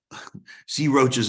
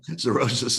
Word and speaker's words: cirrhosis: Okay, items that raise sex hormone binding globulin, again, estrogen, progesterone, and female hormones, thyroids, sea roaches of the liver. That's how they pronounce it in Wilkes-Barre, PA. Cirrhosis of the liver.